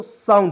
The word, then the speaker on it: sound: उसके बाद यहाँ पे देखेंगे SOUND, तो देखिएगा एस का उच्चारण स लिख दिए, ठीक है। और देखिए जब भी मान ली कोई वर्ड है उसके अंत में OUND आएगा तो उसको उच्चारण आउंड के रूप में हो जाएगा। इसमें जोड़ेंगे आउंड, तो सा उ आधा न ड हो जाएगा दोस्तों, साउंड हो जाएगा, ठीक है।